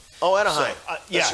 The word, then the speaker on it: Anaheim: I actually think it was in California in Annisline. Oh, Anaheim. So, That's right. That's how it's pronounced.